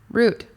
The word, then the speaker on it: route: watch this youtube video root rhymes with boot start root that's a